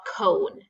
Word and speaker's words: cone: And then I know I need my E at the end because that vowel is making its long noise. And let's mark it. Scoop the syllable. Remember, a syllable has a vowel in it and it's a part of a word. I'm going to mark it. It's vowel consonant E. I'll cross off that E, it's silent, and I'll put my macron